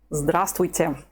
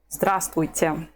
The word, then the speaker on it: Здравствуйте: also one of the most difficult words to pronounce if you're a beginner. Здравствуйте. Just listen to it. Здравствуйте.